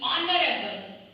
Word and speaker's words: honorable: तो उस तरह से फिक्स in your mind like dash HONOURABLE, honorable. This is the word honorable person. Here also the same thing happened. The H is silent and our word begins with O.